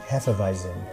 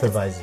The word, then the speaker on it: Hefeweizen: Hefeweizen. Oh, it's not It's too bad. Hefeweizen.